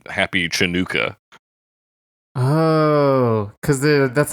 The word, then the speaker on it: Chanukah: But I don't know how you're supposed to pronounce it, but it's not a CH. No, certainly not. I Not imagine you a pronounce it ch. Hanukkah.